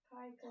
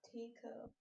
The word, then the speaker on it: Taiko: Taiko, not Tico.